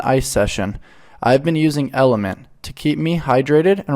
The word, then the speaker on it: LMNT: LMNT, pronounced Element, is a tasty electrolyte drink mix with everything you need and nothing you don't.